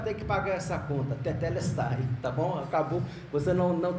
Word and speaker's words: tetelestai: É tetelestai. Fala Dedé. Fala Dedé. Agora coloca o T, teté. É assim que fala, tá, irmãos? A sílaba tônica está na segunda.